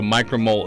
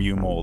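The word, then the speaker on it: µmol: But U-mole is definitely not the right pronunciation, right? Like, No. The sign is micro. right? Micromole. But when everyone's reading it, it always comes out U-mole.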